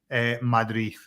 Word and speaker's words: Madrid: In Mexico, I remember my manager would say Madrid. you would say th at the end.